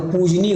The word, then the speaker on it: पूजनीय: हो जाता है आपका आधा ज नहीं होता वो पूजनीय होता है पूजनीय आधा ज नहीं होता है पूजनीय होता है ये वाला ठीक है पूजनीय ऑप्शन नंबर ए निम्नलिखित